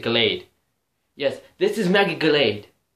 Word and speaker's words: Gallade: of your screen is mega glade or gallade or however you want to pronounce i pronounce it glade yes this is mega